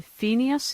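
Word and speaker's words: Pheneas: he was a 10 000 year old scribe fenius is that how you pronounce his name that's right and this became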